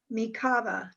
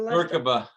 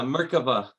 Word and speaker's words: Merkaba: I love that term, the Lord's Breath Kabbalistic Meditation, ancient technique for awakening the Mikava. Is that pronounced right, Samuel? Mikava. Maybe Samuel. Merkaba. Merkaba? Yeah, Merkaba.